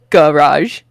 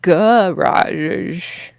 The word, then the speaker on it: garage: But so I said garage with the hard G and the A sound at the beginning. And he said, I might have to mark you off for that one because it's in America, most people say garage. No A in the first vowel.